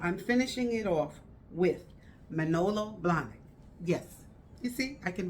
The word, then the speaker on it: Manolo Blahnik: it and so i'm finishing it off with manolo blahnik yes you see i can really say it right malona blonic and malona blonic has i did decided to